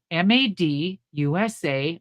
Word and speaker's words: Madusa: MAD USA, made in the USA, Madusa. So it had to be symbolic and it had to be 3 syllables.